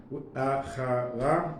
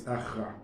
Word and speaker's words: achra: Instead of, it's written here achara, but it's achra.